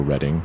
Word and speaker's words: Reading: Uh I do have some people who watch the show who are from Pennsylvania, uh Rebecca from Reading, Pennsylvania, or Reading as she says I'm supposed to pronounce it.